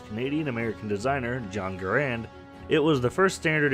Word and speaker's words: Garand: late 1950s although the name garand is frequently pronounced garand the way I'm saying it the preferred pronunciation is garand to write with arond according to experts and